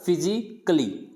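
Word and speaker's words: physically: Next है फिजिकली, यानी इसको फिजिकली नहीं बोलेंगे, यानी सी ए एल वाई को कैली नहीं बोलना है, क्ली बोलना है, तो इसका क्या हो जाएगा, फिजिकली।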